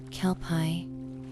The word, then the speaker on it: kelpie: The name itself is a whisper from the water, Kelpai. It rolls off the tongue with a soft, almost liquid sound, but its origins are